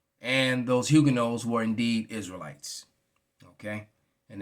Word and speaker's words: Huguenot: right there the uh i'm about 99.9 percent that hugonite is pronounced huguenot all right it's a french word so looking at it in english it would look like it's hugging us but it's actually huguenot i just wanted to